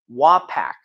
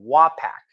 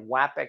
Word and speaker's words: Wapak: actually happy about that Wapak Wapakoneta Ohio is right up the road Wapak all right I'm gonna have to try to say that instead of wapping instead of Way Package more like Wapak I'll